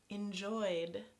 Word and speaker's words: enjoyed: EnjoyD, enjoyD. OY - this is a vowel sound, so it's pronounced like a D, enjoyD. I've enjoyed playing this game with you, Larissa.